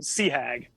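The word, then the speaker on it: CHAG: Commander Hornet Air Group which is pronounced phonetically Sea Hag uh and yeah there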